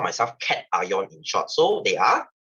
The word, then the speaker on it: cation: part we call it cat ion this is not pronounced as cationar guys it's pronounced as cat ion and this negative part